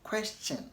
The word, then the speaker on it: question: It is pronounced as question and not question, but question. Okay, so question and not question. you want to say question mark and not question mark, but question. Chin, not shin, okay?